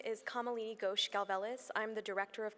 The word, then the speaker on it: Kamalini Ghosh: and this is going to be presented by cameline which I hope I've pronounced correctly okay wonderful good morning my name is kamalini gosh Galvez I'm the director of clinical research at